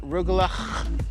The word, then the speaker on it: Rugelach: So we got rugula, and say it like that with a lot of spit.